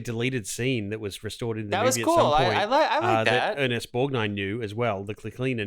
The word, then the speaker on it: Borgnine: fuck borgne ernest borgnine it's okay to pronounce the g in this case borg borgnine yeah academy award winner